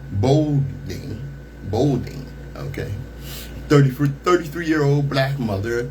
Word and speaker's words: Baldwin: The photograph shows Bernita Baldwin. No, how you say her name? Bolding, okay.